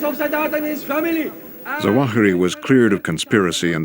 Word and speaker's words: Zawahiri: Zawahiri, right, is the pronunciation of his name.